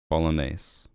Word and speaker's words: Bolognese: The G is silent. Bolognese.